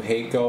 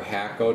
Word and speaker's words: Hakko: is really cool guys this is a new hako or hakko depending how you say it it is a